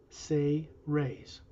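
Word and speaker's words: Seres: the race he's from known as the say rays s-e-r-e-s but pronounced say rays their whole race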